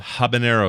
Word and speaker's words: habanero: thing yeah so it's so it's habin habanero habanero is how you're supposed to say it right